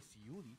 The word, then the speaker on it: Siudy: Y llega un cantador y dice, pero si es muy fácil, es como ciudad, pero con I. Ciudad. Y yo estaba, pero se escribe con S, con Y, totalmente diferente. Pero Ciudy, es que tú, qué